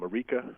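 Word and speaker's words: Marieke: here, so Ironhead, just as it sounds, um Marika, which is spelled m a r i e, k e, again m a r i e, k e.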